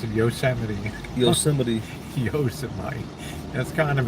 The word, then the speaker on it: Yosemite: Actually, you pronounce it Yosemite.